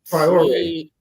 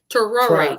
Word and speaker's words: Traoré: Traoré. Traoré. Thank you. Traoré. Thank you. Thank you. 3 syllables.